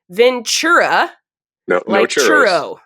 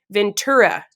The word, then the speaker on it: Ventura: county you live in it's not Ventura churo there's no churo okay Ventura yes V maybe give us